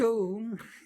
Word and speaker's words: Om: Pronounced Om as in home.